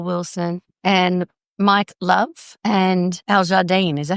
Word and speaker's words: Al Jardine: Wilson and Carl Wilson and Mike Love and Aljardine. Is that how you pronounced?